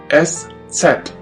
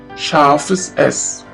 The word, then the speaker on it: Eszett: which looks like this we call it s set s set or Chavez s Chavez s which means a sharp s this letter is pronounced like the SS in the word and always remember this